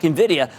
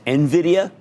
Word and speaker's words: Nvidia: the same people who call a stock Nvidia like it rhymes with Nivea or something you know I mean like it's this instead of Nvidia which is how you